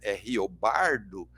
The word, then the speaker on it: Riobaldo: personagem chamado riobaldo né riobaldo na pronúncia caipira r o bardo e bardo significa poeta